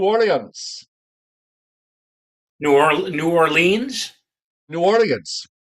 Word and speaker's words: New Orleans: new or New Orleans New Orleans not New Orleans it's New Orleans oh well say it you have to or norins you have to say it like it's one word I'm saying it the